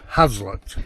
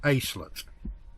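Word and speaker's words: haslet: share f it is acet Ace AET AET in Linker we don't pronounce our hes it's like a horse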